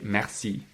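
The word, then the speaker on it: merci: and pronounce them so to say thank you you say mercy and uh Kam has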